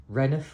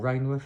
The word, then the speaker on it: Rainworth: We're playing Reniff or Rainworth, however you want to pronounce it.